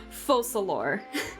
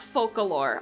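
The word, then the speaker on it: Focalors: gonna butcher a lot the only thing that I know for sure that I'm pronouncing correctly is the Hydro archon's name fosolor and not folklore I know that at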